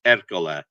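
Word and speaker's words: Ercole: everybody in America but in Italian it's without the H it's era so I met him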